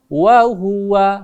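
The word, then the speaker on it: وهو: tandanya juga tidak berdiri, maka tidak boleh dibaca panjang ya. Wa huwa gitu bacanya ya. Wa huwa gitu loh.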